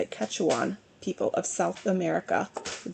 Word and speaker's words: Quechuan: So it's actually a parable of the Quechuan, excuse me, I looked it up how to say it, Quechuan people of South America.